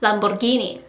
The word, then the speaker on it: Lamborghini: A lot of people might say Lamborghini or Lamborghini, but I've heard that the correct pronunciation in English is Lamborghini.